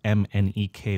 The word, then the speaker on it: MNEK: last 10 years k as in the letters m n e k which is how he